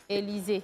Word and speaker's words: Élisée: Élisée. Avec E muet.